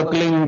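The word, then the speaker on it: क्लीं: एक शब्द क्लीन शब्द, क्या आधा ला में मिला हुआ, बड़ी की मात्रा और बिंदी, उसका उच्चारण होगा क्लीन गा। गा की ध्वनि निकलेगी पीछे।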